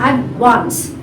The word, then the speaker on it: advance: Whether the word is advance or advancing, the stress is on the second syllable, advance.